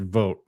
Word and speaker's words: Vought: Patty says it's pronounced Vote.